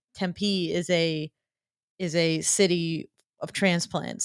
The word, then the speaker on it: Tempe: Then you have to pronounce the name of the city correctly. It's Tempe. Tempe, not Tempe.